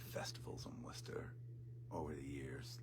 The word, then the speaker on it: Worcester: Um uh but if you're from the Boston area, you know, uh it's Worcester and uh and if you're really from Boston, it's Worester Worester Worcester.